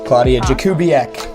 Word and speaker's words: Klaudia Jakubiak: So anyways, without any further ado, please welcome the travel critic herself, Klaudia Jakubiak. All right, we are live. Klaudia Jakubiak.